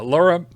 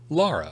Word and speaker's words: Lara: early tomorrow morning uh Laura Laura or Lara pardon me it's bring on a blizzard it's uh Lara apparently from uh your pronunciation bring on a blizzard